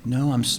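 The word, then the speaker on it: Noh: No, I'm sorry. The answer is no, as N-O-H, no, is how that's pronounced, is the 3 traditional forms of Japanese theater.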